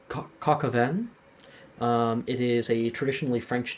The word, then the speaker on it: coq au vin: There's it's pronounced coq au vin.